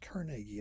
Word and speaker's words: Carnegie: Okay, back to Carnegie. His name's supposed to be pronounced Carnegie.